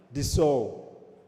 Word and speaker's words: DSAU: So we need to pronounce the SAU, not the way you pronounce sausage, but the way you pronounce, I don't know if you know a famous perfume, the Dior Sauvage.